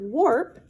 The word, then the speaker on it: warp: on your loom and the word warp rhymes with the word harp here's a harp right